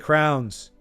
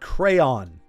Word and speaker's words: crayon: or know somebody who mispronounces the word crayon? See, it's Crayon. You know, the little wax coloring utensil. I was unfortunate enough to go to school with kids that called crayons crowns.